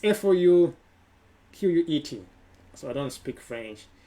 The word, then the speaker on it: Fouquet: The next day after the party, it's F-O-U-Q-U-E-T.